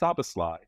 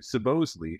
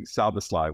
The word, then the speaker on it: Soboslai: second name supposedly is the Hungarian name originally pronounced sabasly and when my grandparents emigrated to the U.S they changed the pronunciation to supposedly feeling that it was more American sounding and